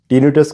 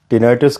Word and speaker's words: tinnitus: आज मैं आप लोगों को टीनिटस, टेनाइटस, आप कुछ भी कह सकते हैं क्योंकि मेडिकल भाषा में टीनिटस कहा जाता है। आम जो जनता जो प्रोनाउंसिएशन करती है उसे टेनाइटस कहा जाता है।